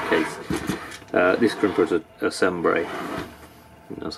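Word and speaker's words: Cembre: So in this case, this crimper is a Sembre. That's how you say it, pronounce it.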